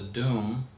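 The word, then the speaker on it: Dum: When you look at the document from 1452, it's called the Deum, D-O-M, but it's spelled D-U-M, the Deum Diversus.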